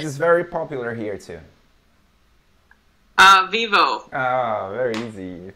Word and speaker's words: Vivo: Usually we the letter O for us in the end of a word, we don't pronounce O, we pronounce U.